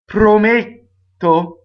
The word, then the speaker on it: Prometto: Prometto is closed D before a double T, right?